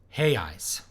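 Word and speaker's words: reais: you for the comment and Portuguese the R is pronounced as an H and this it comes after a foul Oh so a realice pronounced a hail and the plural hey eyes no interested see I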